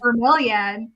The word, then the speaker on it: bromeliad: Bromeliad, Broomhilda.